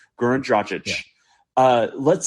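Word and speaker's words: Dragić: Let's say Goran Dragic, just because he's the name, Dragic, I should say. I've had Slovenians correct me on the pronunciation. Goran Dragic.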